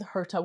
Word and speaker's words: Herta: I'm here with Herta Weinstein.